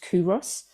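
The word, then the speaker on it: Culross: it's spelled like it's Carl Ross but it's pronounced kuros and um it's beautiful in this this lovely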